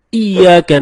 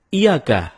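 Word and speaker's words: إِيَّاكَ: nabudu wa iyyaka nasta'in ada yang membacanya dengan Iyakah tidak menekan huruf Ia seperti seperti sebagaimana kita jelaskan tadi bahwa penekanan itu dapat merubah makna kalau kita baca iyakanabudu dengan menekan Iya maka artinya menjadi kepadamu lah kami menyembah kalau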